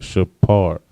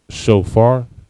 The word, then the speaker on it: shofar: Trumpet in Hebrew is shapar. All right, shapar. All right. Most people are used to the Yiddish word shofar, right? In Hebrew, we don't have a f sound, right?